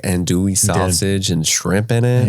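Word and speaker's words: andouille: creole omelette had like andul sausage and shrimp in it andly and like some cinjun spice isn't it French you don't pronounce the else it's like and and andage fromage I did have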